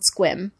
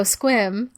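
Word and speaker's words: Sequim: in a really tiny town called squim so if any of the listeners know squim squam that's the cutest sounding uh town it's spelled like sequin but with an m at the end yeah and it's right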